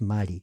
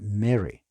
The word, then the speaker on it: Mary: Mary y no es Mari Mari es pronunciación española la la e es la a es e y la r es r Ah pronuncia Mary Esa es la pronunciación